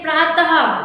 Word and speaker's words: प्रातः: में आदि मात्रा तो, जब हम इसको उच्चारण करते हैं प्रात हो गया, मगर जब हम इसमें का ये 2 बिंदु देंगे तो ये क्या हो जाएगा, प्रातः।